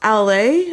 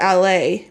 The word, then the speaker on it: ala: The ala. Oh, it's pronounced LA, I think. I'm pronouncing it wrong.